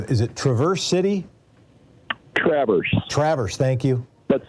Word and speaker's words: Traverse City: to dave from is it traverse city traverse traverse thank you but spelled like traverse yeah all right and if you've